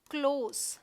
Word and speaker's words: close: तो जो एडजेक्टिव है गाइस, ध्यान रखिएगा, ये वाला एडजेक्टिव है, इसे हम पढ़ेंगे क्लोज।